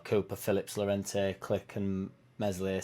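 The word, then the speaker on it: Meslier: phillips lorente click and messily silent s apparently all should be back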